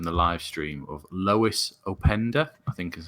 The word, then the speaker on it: Openda: So there was one that was doing the rounds on Saturday when I was doing the live stream of Lois Openda, I think is how you say him, from RB Leipzig, which it's a striker.